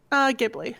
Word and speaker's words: Ghibli: Do you pronounce it Ghibli or Ghibli? Ghibli.